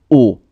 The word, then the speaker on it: aux: A plus les will become au, written like that, A-U-X. But you don't pronounce X, so au pied.